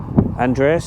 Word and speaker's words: Andenes: folks we are just south of I it's Andreas they pronounce it which we're heading to today it's